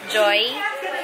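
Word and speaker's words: Joie: Joy ba ang pronounce dito? Joy.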